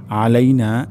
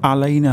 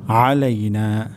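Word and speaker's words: عَلَيْنَا: আলাইনা এখানে আইন উচ্চারণ হবে। আমাদের অনেকের ক্ষেত্রে আলাইনা হয়ে যেতে পারে, আলাইনা, তাহলে এখানে অর্থ পরিবর্তন হয়ে যেতে পারে। তাহলে এখানে আমাদেরকে কেয়ারফুলি বলতে হবে আলাইনা, আলাইনা, গলার মাঝখান থেকে হবে আলাইনা।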